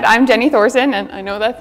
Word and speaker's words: Thoegersen: morning everyone um as she said I'm Jenny Thorson and I know that's not what it looks